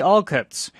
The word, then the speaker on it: Alcott: 950 dollars in 1857 what's the correct pronunciation of this family's last name all cuts not all cut Jan turn Quist is